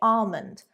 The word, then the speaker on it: almond: In the same way, we'd actually say almond, almond, rather than almond. Although I believe in American English, they do pronounce it this way.